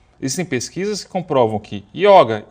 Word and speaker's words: yoga: Em sânscrito, a língua original do yoga, realmente é yoga, com o fechadinho, é masculino e tal.